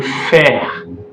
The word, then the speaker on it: frère: Then le frère, E is silent.